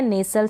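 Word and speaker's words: nestle: फिर ये है नेसल, सेम ऐसे ही, एन को न, ए को ए, एस को स, और टी साइलेंट है, एल को ल। ई का उच्चारण प्रोनाउंसिएशन नहीं हो रहा है, नेसल बन गया।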